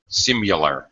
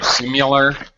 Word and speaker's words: similar: hear somebody some people pronounce it with like a u sound simul simular simular sounds like y simular um okay either is actually correct and it totally depends on where you're from I think Brits say